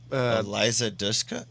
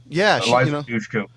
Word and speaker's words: Dushku: And don't forget about a very young, I can never pronounce her freaking name. Eliza Dushka? Yeah. Eliza Dushku.